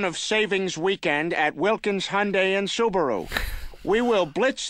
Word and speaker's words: Hyundai: It's pronounced Hyundai. It always is. It's dropped the I, so it's not Hyundai. It's not Hyundai. It's Hyundai. Okay, so specific.